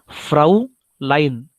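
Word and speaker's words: Fräulein: बोलते हैं फ्राउ एल ई आई एन लाइन spelling थोड़ा सा इधर ऐसा देखो फ्राउ लाइन फ्राउ लाइन फ लाइन का मतलब है मिस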